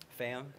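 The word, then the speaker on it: Pham: now good sir what is your last name fam fam how do you spell that p h a m h m all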